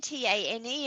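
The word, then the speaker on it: Tāne: can understand that because it is sometimes written tane t-a-n-e and in new zealand that's tane the forest so there was kind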